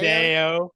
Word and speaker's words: Vidaio: Vidaio, is that how am I saying it right, Mark? Vidaio? Vidaio, yeah, Vidaio. Vidaio. So Oh, yeah, Vidaio, I of don't know how to pronounce course.